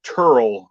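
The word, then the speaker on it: Turrell: had to take to a place called it's pronounced turl arkansas spelled t-u-r-r-e-l-l but you would pronounce pearl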